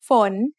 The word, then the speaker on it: ฝน: ฝน ฝน is a rising tone because we have a high-class initial with a live syllable ending.